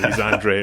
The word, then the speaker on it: Andrade: defeated Demetrius Sandra Android I gotta say Andrade but I guess the Yanks tend to bastardize pronunciations Andre it always has been um you know he's